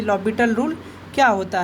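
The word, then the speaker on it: L'Hôpital: तो आज की शॉर्टकट सीरीज़ में हम लोग एल हॉस्पिटल रूल या एल हॉस्पिटल रूल, इसका अगर करेक्ट प्रोनाउंसिएशन करें तो इसको हम लोग लॉपिटल रूल बोलते हैं।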